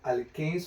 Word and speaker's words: alkene: Saturated में क्या क्या रहेगा, अल्केन्स होगा, अनसैचुरेटेड में अल्कीन्स और अल्काइंस होंगे, ठीक है ना। ये स्पेलिंग जानेगा, ALKANE और ALKENE और ALKYNE, क्या